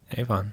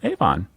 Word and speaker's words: Avon: immortal bard of stratford-upon-avon a Vaughn a fun a fun is how we pronounce it that's the first piece